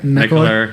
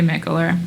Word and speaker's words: Mikkeller: Mikler. Yeah, they say that, but like you know American we go over to Denmark, they say Michel.